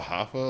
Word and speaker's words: HOFFA: I believe it's pronounced Hoffa. I wasn't expecting to listen to this, honestly. Someone else put me on. It's called Hoffa, like Jimmy Hoffa.